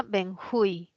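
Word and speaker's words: benjuí: Y se pronuncia benjui, ¿no? Es aguda. Termina en vocal, se tilda.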